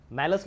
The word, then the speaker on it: Malus: Lecture में हम पढ़ने वाले हैं मैलस लॉ के बारे में। आप मालू भी कह सकते हो या मैलस कह सकते हो, इसका प्रोनाउंसिएशन मैलस है।